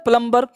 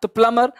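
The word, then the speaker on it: plumber: की कथा प्लंबर बोलते हैं लोगों के हुए प्लंबर है ना प्लमर है न सबटल बोलते लोग सबटल ही बोलना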